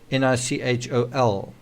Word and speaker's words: Nichol: He specifically mentions Nichol Kessinger, although her name's spelled with an E, and it's actually Nichol.